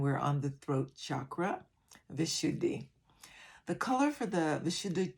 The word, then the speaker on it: Vishuddhi: look at some of the features of the vishuddhi chakra and by the way it's pronounced vishuddhi or the depending on what part of the